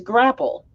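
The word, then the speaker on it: graupel: oh okay so yeah it is called grapple but it's spelt different it's g-r-a-u-p-e-l grapple also called soft hail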